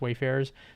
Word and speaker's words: Wayfarers: And I tend to say like wafers, but I believe it's pronounced Wayfarers.